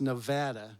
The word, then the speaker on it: Nevada: I lived there for many years, and it's pronounced Nevada, by the way.